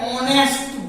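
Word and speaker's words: honest: ऐसे लिखा ऑनेस्ट बॉय, ऑनेस्ट बॉय बोलेंगे एन ऑनेस्ट बॉय, एक ईमानदार लड़का, तो वह एन ऑनेस्ट बॉय।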